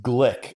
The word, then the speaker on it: Gleick: from a book by a guy named James Glick. I believe it's spelled Gleick, and the book is just called Chaos.